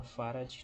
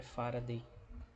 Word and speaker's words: Farad: Se escreve assim com letra minúscula, Farad, não é Faraday, é Farad, que é 1 Coulomb por volt.